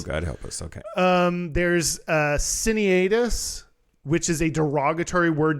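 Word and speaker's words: cinaedus: There's Cineatus, which is a derogatory word denoting a male who was gender deviant. Cineatus? Cineadus.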